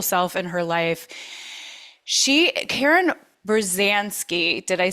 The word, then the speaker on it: Berzanski: Karen Berzanski, did I say it right, Karen?